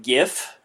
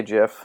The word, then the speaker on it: GIF: fast or the the jiff where he's have you seen that one yeah I think you mean gif I say Jeff yeah okay hey that's how the Creator says instead of dwelling on